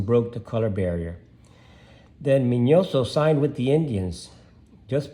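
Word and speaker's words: Miñoso: is satorino orestes armas minoso because it has a an accent on the end so his real name is minoso or estes minoso and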